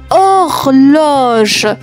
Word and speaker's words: horloge: 27e mot une horloge. Attention, il y a une lettre muette.